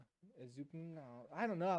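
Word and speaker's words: Ezukanma: Ezukanama. There's no vowel in between the N and the M. Yeah, but that usually makes a num. Ezukanama.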